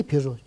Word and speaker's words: Peugeot: Вот Peugeot. 7 букв читается Peugeot. Слышно только 4 буквы.